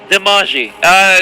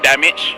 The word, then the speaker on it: damage: Demaji. Did I pronounce it correctly? Yeah, it's actually damage.